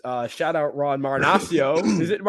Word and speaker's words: Marinaccio: Shout out Ron Marinaccio. Is it? It's Marinaccio. We keep saying Marinaccio instead of Marinaccio, right? Like a nacho.